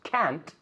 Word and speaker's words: can't: Cuando decimos can't, se pronuncia la T poniéndole más énfasis.